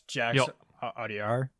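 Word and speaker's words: Jacques Audiard: So, I mean, I have another name too that kind of fits that bucket, and that's Jax Audiar. I think is how you pronounce it, for Emilia Perez.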